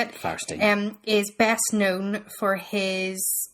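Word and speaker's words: Fierstein: Firestein.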